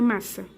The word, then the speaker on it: massa: mas pra gente não como tem duas formas de pronunciar o s na lingua portuguesa que seria o su de S mesmo ou o su de Z pra gente não confundir com masa por Quest gramática essas coisas que não vem ao caso a gente duplica o s para dizer que é assim que a gente pronuncia massa a gente também pode